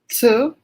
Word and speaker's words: 词: So how are you going to pronounce that one properly? ci, ci, Better.